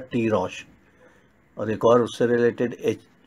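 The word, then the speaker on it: תירוש: शब्द H8492 दिया गया, जो कि प्रोनाउंस किया जाता है टी रॉश।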